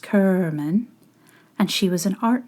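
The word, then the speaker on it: Cerman: Her name was Gail Kerman, pronounced Kerman, and she was an art major.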